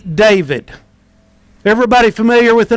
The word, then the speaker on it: David: The emphasis is always on the second syllable. So the name is David.